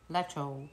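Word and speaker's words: lecsó: Well, it is called Lecho. Lecho.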